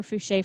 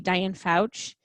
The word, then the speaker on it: Fouché: So no longer will I be Diane Fouch. You can actually pronounce it correctly because I know how to do the E now.